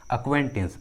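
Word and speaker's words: acquaintance: English word में जो सी जो है वो साइलेंट है, सी का आवाज़ नहीं आ रहा है। अक्वेंटेंस, अक्वेंटेंस, जो आवाज़ आ रहा है वो क्यू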